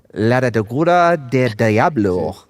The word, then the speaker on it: Laguna del Diablo: You got to say it with the accent, Chad. Otherwise, you're going to pronounce it wrong.